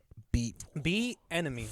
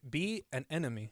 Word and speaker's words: Bieniemy: Bieniemy. Like an enemy. Be an enemy.